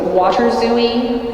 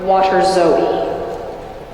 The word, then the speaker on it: waterzooi: So water zooey or water zoe.